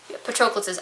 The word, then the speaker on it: Patroclus: It's not patronize. I know how to pronounce that.